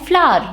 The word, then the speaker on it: flour: For example, flower and flour. One of them is this, the one you feel good about smelling, and the other one is the atta that you eat, right? They sound exactly the same, flour, but meanings are absolutely different.